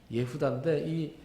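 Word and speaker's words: יהודה: 그러니까 유다가 히브리어 발음으로는 예후다인데 처음에 이 야곱의 아내들이 이 아들들을 쭉 낳으면서 이게 레아의 아들이잖아요.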